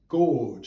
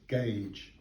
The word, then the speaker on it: gauge: means the distance between the rails and i mispronounced this i thought it was gorge and i talked about a narrow gorge railway